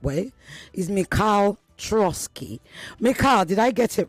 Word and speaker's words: Troitskiy: His name, and I'm going to try and pronounce it the right way, is Mikhail Troitskiy.